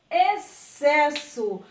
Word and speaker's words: excesso: E na verdade não é, porque o X ele está aqui, ó, escondidinho, mas ele não é pronunciado. Então fica exceto, excitante, excelente e excesso.